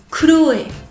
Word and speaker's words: Chloé: Ensuite, Chloé. 3 syllabes. Kuroe. Chloé. Chloé. Donc si on le prononce vite, ça pourra ressembler au français. Ça fera Chloé.